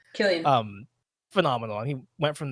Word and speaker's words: Cillian: I mean, Cillian Murphy, or I guess Killian Murphy is how you say it. Killian.